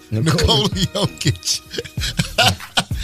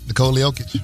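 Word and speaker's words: Nikola Jokić: Nikola Jokic. Okic. So the J is silent. There it is. Okay. And it's a ch at the end The of the Joker is his aliases.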